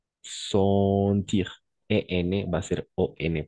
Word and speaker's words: sentir: O sea, aquí, digamos, aquí EN, hay EN en sentir, pero vamos a pronunciar siempre como ON, sentir.